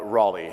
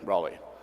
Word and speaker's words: Raleigh: tracking two markets we're tracking charlotte and uh raleigh i think i pronounced that right raleigh yeah okay so we're tracking these two markets